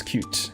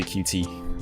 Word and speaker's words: Qt: the folks to say you should pronounce cute yeah it should be cute by the way it's my uh my accent I like to say QT but it is cute it's actually I think